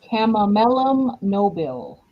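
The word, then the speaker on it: Chamaemelum nobile: Chamomellum nobile.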